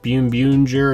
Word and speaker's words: Boonboomger: said something about you're supposed to pronounce it like Boonboomger or something like that. It looks like it's saying Boonboomger.